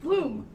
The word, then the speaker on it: Blom: Wait, how do you say it? Bloom, like the flower.